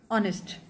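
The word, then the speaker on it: honest: यहां पे जो एच है वो एक कंसोनेंट है। बट अगर हम इस वर्ड को पढ़ते हैं तो ये ऑनेस्ट पढ़ा जाता है। और साउंड इसकी ओ की है।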